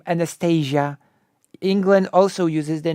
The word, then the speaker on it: Anastasia: But England also has the name Anastasia.